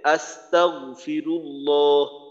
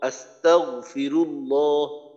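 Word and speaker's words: أستغفر الله: আমি বলি তাগফিরুল্লাহ তাহলে কিন্তু কলকলা হবে এখানে গইনটা একবার উচ্চারণ করতে হবে একবারে যতটুকু উচ্চারণ উচ্চারণ করতে হবে এটা যেন দুইবারে এভাবে আওয়াজটা আবার ফিরে না আসে একবারে আস্তাগফিরুল্লাহ আস্তাগফিরুল্লাহ আর আমরা হরফের উচ্চারণ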